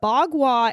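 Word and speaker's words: bagua: about this as well this is b a GU UA that's how you spell it but bwa is the funu energy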